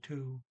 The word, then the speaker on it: to: Okay, they got 2 o'clock here, but all she says is 2, which is spelled T-O, and O is primarily pronounced like a double O, ooh, like in T-O-O, 2.